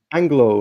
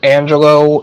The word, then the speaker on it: Angelo: Anglo. How are you? Any questions you want to ask? My name's actually Angelo, Oh and my God, sorry, Angelo.